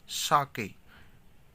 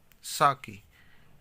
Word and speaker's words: sake: Sa is pronounced like fa in father, यानी कि sa means